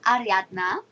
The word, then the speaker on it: Ariatna: hi so this is ariatna sorry it's just sounds so weird okay no I mean that is actually how we pronounce my name it's just so funny